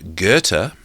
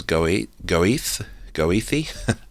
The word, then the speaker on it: Goethe: It may be regarded as entirely natural that someone like Goethe, if I'm pronouncing that right, it reads as Goethe, and I'm pretty sure it's pronounced Goethe, who attempted alongside his